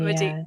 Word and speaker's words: Medea: Medea.